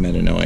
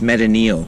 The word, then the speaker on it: metanoia: chris by the way it's not even pronounced metanoia okay my name is chris that's fair pronunciation how would you pronounce it it's meta neil okay and it means